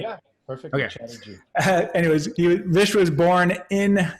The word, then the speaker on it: Chatterji: And so Vish Chatterji, am I pronouncing your last name right? Yeah, perfect. Okay. Chatterji.